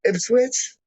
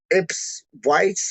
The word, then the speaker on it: Ipswich: it was it was ipswich and they were calling it like ips whites or like ips if i don't know they weren't calling it proper and then like they